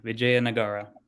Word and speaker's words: Vijayanagara: is very clear um you said it's pronounced just like it's written and it actually stands for so vijaya means victory and nagara means city so it's the city of victory vijaya nagara vijayanagara very nice now